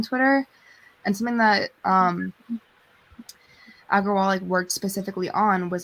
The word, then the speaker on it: Agrawal: this new ceo um argo wall that's how you say it um aggrowall agrawal that's it um they shared the